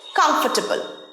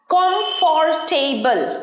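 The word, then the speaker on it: comfortable: দেখে নি চলো পরের ওয়ার্ডটা হচ্ছে কমফোর্টেবল, আরামদায়ক। কমফর্টেবল নয়, কমফোর্টেবল, আরটা উচ্চারণ হয় না।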